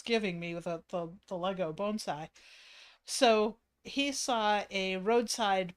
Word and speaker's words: bonsai: Bonsai is how it's pronounced, Kermit.